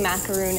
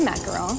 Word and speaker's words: macaron: pronouncing it correctly macaroon a lot of people say macaroon anyways but it's a macaron macaron if you want to be fancy and French okay then that's good